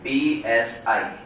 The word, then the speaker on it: psi: What is the spelling? P-S-I. P-S-I. So the pronunciation is psi.